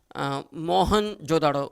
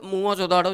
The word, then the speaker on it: मोहनजोदड़ो: याद रखना, सिंधी भाषा में, जिसको हम गलत उच्चारण, इसका रॉन्ग प्रोनाउंसिएशन करते हैं, मोहनजोदड़ो। मोहनजोदड़ो इज नॉट A correct pronunciation, उच्चारण। सिंधी भाषा में सही शब्द है मोहनजोदड़ो, जिसको प्रेतों का टीला